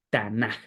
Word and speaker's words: Tanaj: entonces es el el tanac tanaj difícil pronunciarlo no con j al final Ese es el Antiguo